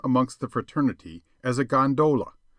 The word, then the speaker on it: gondola: the fraternity as a gondola with the second syllable emphasized and pronounced long but to return I